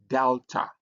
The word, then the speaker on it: delta: And then the next letter that we have is called delta. Delta is uh uh written like this. It has a D sound like D in dog.